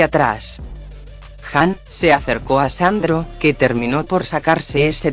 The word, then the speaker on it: Zandro: Mi nombre es Sandro, se escribe con Z. Mi rey le aclaró amablemente, pues su nombre se pronunciaba como Sandro. Por lo que muchos no sabían que usaba una Z en vez de S.